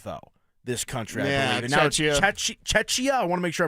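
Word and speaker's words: Czechia: It used to be the Czech Republic though, this country I believe Chetchia. I want to make sure I'm pronouncing this correctly. It's Czecha. Czecha.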